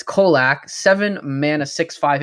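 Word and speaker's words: Colaque: so so last card it's kolac it's got a q and it's got a ue at the end which confused me uh it's kolach seven mana six five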